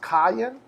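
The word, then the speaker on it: קין: the strong's concordance it's hebrew word 7014 it's pronounced kayan it's the same as 7013 with a play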